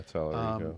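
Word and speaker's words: Talarico: There's a chance that the Senate will flip with Tellerico. Tellerico, is that how you say his name? Yeah, Tellerico.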